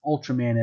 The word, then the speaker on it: Ultraman: I did watch one episode of one of the newer Ultraman shows on YouTube, and in the show itself, the characters would pronounce Ultraman as Ultraman, which would be the Japanese way